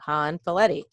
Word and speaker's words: Hanfileti: works calm and you're gonna hit /my name han valetti Haan file2 I so make sure you spell that right Haan like Nancy f like friend